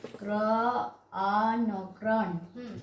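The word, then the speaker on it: crane: Reading करो दे तो क्रॉन। एठी हमरो ई साइलेंट रहिबो, सी आर row sound is ए row sound is crow, N row sound is क्रान माने होछि पिला माने बोगो को हमें इंग्रजी रे क्रान कहिबा।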